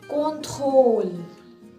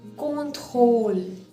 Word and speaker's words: contrôle: For example, contrôle, whole, contrôle, whole. That's what it pronounced as.